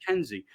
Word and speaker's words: Kenzie: from the great how do you really pronounce your last name i want to say it right okay great kenzie um and some people are probably asking and